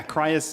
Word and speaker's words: Criius: jordan brenda from kryas uh oh sorry yeah cries gaming corporation thank you thank you you got